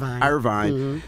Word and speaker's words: Irvine: Irvine.